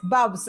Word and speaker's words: BUBS: BUBS, Bubs. I don't know how you pronounce it.